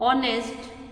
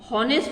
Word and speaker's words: honest: ऑनेस्ट क्या बोलते हैं इसको, ऑनेस्ट। हॉनेस्ट नहीं बोलते हैं, ह साइलेंट है, ह नहीं होता है इसका उच्चार, ऑनेस्ट कहते हैं, इसलिए हम लोग इसको एन यूज करेंगे।